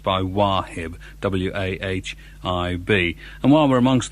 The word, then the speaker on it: Wahib: This is from Wahib, I suppose that's how you pronounce it, W-A-H-I-B.